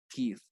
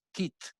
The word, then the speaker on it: teeth: phenomenon okay teeth tooth teeth um in spanish i emphasize on the pronunciation for this word and sometimes i exaggerate it because my students they pronounce tit tits you know what it